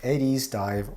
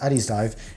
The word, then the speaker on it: Addiesdive: So for a bit of context, Addiesdive, or Addiesdive, I think it's pronounced Addiesdive, is a budget brand